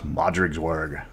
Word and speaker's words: Modrigswerg: mr welch and today we're learning how to pronounce modric's worg officially very little is known about the rot